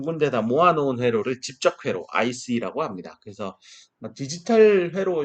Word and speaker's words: 집적 회로: 이거 대충 발음하면 이렇게 직접 회로인 줄 압니다.